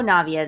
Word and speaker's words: Navia: different than nevaeh because she puts her emphasis on the gnaw navia and just the simple